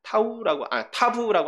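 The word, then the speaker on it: תָּו: 타부라고 하는 알파벳이 있습니다. 타우가 아니라 타부. 예. 좀 옛날에 배우신 분들이 타우라고 발음을 한다고 해요.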